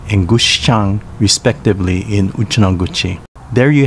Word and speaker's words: Gushikami: with the merger of two towns kochinda and gushikami pronounce kuchinda and gushchang respectively in uchinoguchi there you have it the